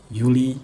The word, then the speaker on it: Juli: Nah, terus jangan lupa yang semua yang dimulai dengan J pokoknya huruf J itu dibacain jadi Y. Yanar, Juli, Juni.